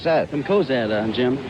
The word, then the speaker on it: Cozad: This is Maynard Smith, a halfback from, how do you pronounce that? From Cozad, Jim. Cozad, Nebraska.